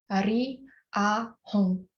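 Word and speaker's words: Ri A Hong: This evening mantra is only 3 syllables, Ri, A, Hong.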